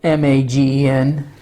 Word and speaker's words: Magen: Jewish people, scattered throughout the world, the Magen, it's spelled M-A-G-E-N. I'm going to write that down. Pronounced Magen, David. We say David. If you're a Jew, that's how you would say it. Megan David, as is pronounced in Hebrew, literally means